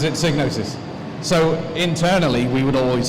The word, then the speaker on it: Psygnosis: gnosis or cycle now the beginning actually everybody pronounce it Psygnosis but the guy who invented the word pronounces it sig notice so internally we would always say Cygnus and